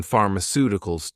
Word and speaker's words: pharmaceuticals: This helps us to work out the stress position in pharmaceuticals too. Pharmaceuticals. Stress on the third to last syllable.